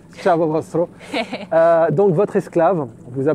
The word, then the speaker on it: ciao: dialecte vénitien plus précisément ça se prononçait et notre guide m'a corrigé correctement c'était Chaveau j'aurais du mal à le prononcer ciao donc votre esclave vous